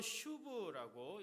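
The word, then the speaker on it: שוב: 히브리어로 슈브라고 읽는데요.이 단어가 구약 성경에서 가장 중요한 회개라고 하는 의미를 가지고 있는 단어 중에 하나입니다.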